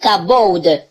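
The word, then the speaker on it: כבוד: cache derrière alors le bouc a bold ou cabaude comme on le prononce en hébreu qu'aborde setteuse la gloire de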